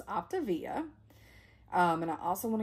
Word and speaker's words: Optavia: my optivia journey and i think i mispronounced the diet program in the first where i'm unboxing so it's optivia um and i also